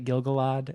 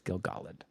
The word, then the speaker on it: Gil-galad: I've always said it Gil-galad, and it's Gil-galad. I've been corrected.